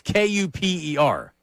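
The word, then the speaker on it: Kuper: It's not spelled like like Cooper, like hanging with Mr. Cooper or Cooper. It's ku per.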